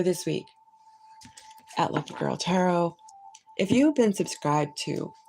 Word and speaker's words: Tarot: Now it's called Hidden Desires Tarot with no T, and it is going to be with T, but no T. It is silent T.